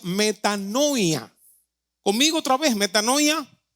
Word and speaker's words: metanoia: una palabra que que se llama que se pronuncia metanoia conmigo otra vez metano ya metano el verbo